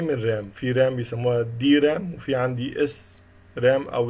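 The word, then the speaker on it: DRAM: اللي هو dynamic RAM اللي هو بيسموها دي رام، بننطقها دي رام، وفي اس رام.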